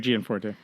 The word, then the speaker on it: Gianforte: Tonight is Greg Greg is the Gianforte, is that how you say it? Yeah, Greg Gianforte.